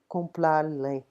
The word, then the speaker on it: comprare: Comprare. Okay, so if you have problems with the R, you can just turn them slightly into a L. Comprare.